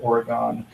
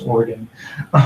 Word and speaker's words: Oregon: I have a friend in Oregon that informs me that the Minnesota pronunciation of Oregon is not correct. It's Oregon.